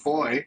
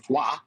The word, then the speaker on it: Foy: There's one episode in the village of Foy or "Fwa." F-o-y.